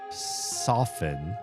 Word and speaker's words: soften: And then I looked it up and I saw that this word, much like the word soften, based off of the word soft, does not pronounce the T.